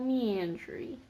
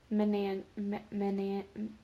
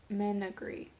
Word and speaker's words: Menagerie: We're gonna go with, Florine Fortescue's, Ollivander's Wand Shop, Flourish and Blatz, Quality Quidditch Supplies, Wisikra's Wizarding Equipment, and Magical Meandry. Menagerie. Menagerie.